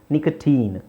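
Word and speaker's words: nicotine: ಡಾಕ್ಟ್ರಿನ್ ಡಾಕ್ಟ್ರಿನ್ ಇನ್ ನಿಕಟಿನ್ ಸಾರಿ ನಿಕಟಿನ್ ಇಲ್ಲಿ teen ಅಂತ ಹೇಳಬೇಕು ನಿಕಟಟಿನ್ ಎಂಡೋಕ್ರಿನ್ ಇನ್ ವ್ಯಾಕ್ಸಿನ್ ಇನ್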